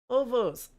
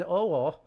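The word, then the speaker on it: овоо: Ovos. So. Okay, Owo. Let me pronounce that correctly. An Owo.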